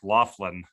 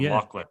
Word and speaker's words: Lachlan: They want to say Beck Laughlin instead of Lachlan.